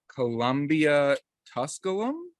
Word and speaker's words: Columbia Tusculum: here in there I'm gonna mess this up Columbia Tusculum oh you got it oh I got it that's how I pronounce it at least there we go I'm gonna go with your pronunciation then uh Columbia Tusculum uh tap room and Brewery uh we are